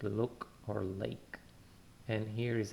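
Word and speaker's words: לא: The sound is L, like look or lake. And here is an example, Lo, Lo. We have a L, it has a vowel O with it, Lo. And Aleph, remember, is silent.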